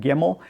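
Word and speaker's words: Gemmell: And this was my very first David Gimmel or Gimmel. I've heard it pronounced both ways. I have always said Gimmel.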